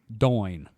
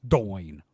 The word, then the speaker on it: Domhain: Scottish spirits brand Domhain, pronounced Doin. Thank you. Okay. It's Domhayn, and it's pronounced Doin.